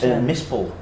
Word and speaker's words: mispel: Mispel. How do you spell that?